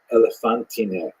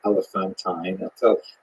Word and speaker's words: Elephantine: Now, I always pronounce that, by the way, Elephantine. I looked a little more carefully. I think it's supposed to be pronounced Elephantine. Maybe someone in the comments will correct me if I get that wrong.